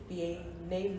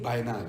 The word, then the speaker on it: Biennale: falls part of the Venice Bianlee. I don't know if I'm pronouncing correctly. Biennale, it's fine. Biennale. Yeah, okay. it's language. The Venice. It's Italian. I don't know why they must add that, but yes.